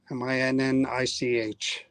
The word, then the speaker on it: Minnich: Reverend Edmund William Minnich.